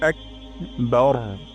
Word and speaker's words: আকবার: এটা উচ্চারণ করবো না বা চিকন র মোটা বার বার একবার বার একবার বার আল্লাহু আকবার আল্লাহু আকবার আল্লাহ বলতে